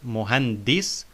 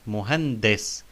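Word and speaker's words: مهندس: We notice that we say muhande, muhandis, not muhandis, but muhandis, because there is kasra under dal, and on sin there is sukun. That's why we say de, muhandis.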